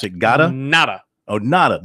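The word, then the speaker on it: Ngata: it gotta nada Oh nada the G is silent like allotted nada Joe nada from Folsom California Tyler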